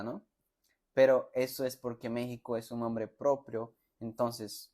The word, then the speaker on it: México: Yo tampoco entiendo eso, pero México tiene una X y se pronuncia así, México, como si fuera una J, ¿no? Pero eso es porque México es un nombre propio, entonces la pronuncia es así.